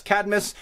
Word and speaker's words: Cadmus: one of those things the same thing happened with Cadmus I know it's CID I'm us Cadmus there's no extra I vowel there but for some